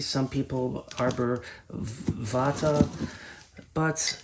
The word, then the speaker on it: arborvitae: And some people pronounce it Arborvitae, some people Arborvitae, but it's spelled Arborvitae, so that's how I'm pronouncing it. You know, it comes from Latin, and they don't teach